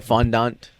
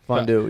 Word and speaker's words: fondant: it fondue fond fond fondu yeah that's what I was going to the chocolate waterfall where you dip stuff in but it's spelled fondant it's spelled fondant yeah but people say fondu wait it's f o